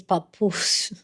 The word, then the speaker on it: Papoose: I know I'm pronouncing that name. It's papoose.